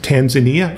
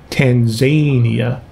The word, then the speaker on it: Tanzania: of countries for example there was a nun that pronounced tanzania she called it tanzania and i said sister jones it's tanzania because i had heard that